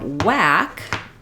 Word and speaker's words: whack: and my K walk versus for whack our IPA we have the a vowel like we had earlier in our word bath the a like in cat um and the H is silent so just like in words like what or where uh we no longer we don't say for this sound anymore wh used to be